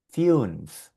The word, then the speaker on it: fünf: Aquí tenemos esta palabrita que tiene U umlaut y sonaría fünf, fünf, el número 5, fünf.